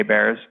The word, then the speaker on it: Baer: Jay Baer books and they bear and bear is spelled BAE er yep so you and